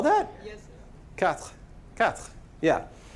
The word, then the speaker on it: quatre: Quatre. Yeah. And you just kind of do the TR at the end of it. You don't actually say this little vowel.